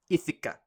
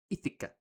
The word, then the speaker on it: Ithaca: can imagine, they're getting a bit impatient after Ithaca. It's pronounced Ithaca.